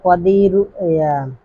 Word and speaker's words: কদিরু: পরে আল্লাহ পাকের 2টি নাম আল কদিরু না আল হাফিজু আল কদিরু। ঠিক আছে? এই যে আল হাফিজু আল কদিরু। ঠিক আছে? এই আল হাফিজু আল কদিরু, বাংলায় কাদিরু লেখা, তো উচ্চারণ হবে কদিরু।